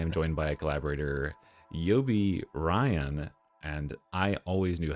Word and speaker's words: Yobiraion: And today I am joined by a collaborator, Yobi Ryan. And I always knew how to say his name. All you have to do is uh it's like a lion with an R.